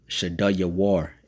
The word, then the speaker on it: Shedeur: So, so so Shaddaiyo uh Shaddai Shaddaiyo war is how you say it in Hebrew.